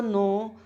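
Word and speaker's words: know: एंड you also नो this, नो में जानना, इसमें के साइलेंट रहता है, के बोला नहीं जाता, नो।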